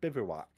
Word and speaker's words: bivouac: few pages God not good all right it's pronounced bivouac yeah yes it is a temporary Camp without